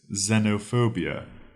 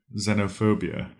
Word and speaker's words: xenophobia: word to today is xenophobia xenophobia it's spelled x n o Zeno p h o b i a phobia xenophobia this word comes from Greek